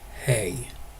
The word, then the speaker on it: hē: Next word is he, and in Lindish that is hey.